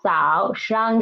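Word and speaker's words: 早上: Next one is 早上自熬早上上 is the neutral tone.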